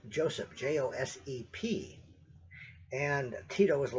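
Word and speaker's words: Josip: was the head of the government there, was Joseph Tito. Now, I said Joseph. That's how we pronounced it here in the United States and probably most of Western civilization, that is Western Europe.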